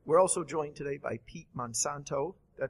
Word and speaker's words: Pete Monsanto: We're also joined today by Pete Monsanto. Did I pronounce that correct?